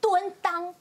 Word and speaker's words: 蹲襠: 蹲裆，什么叫做蹲裆？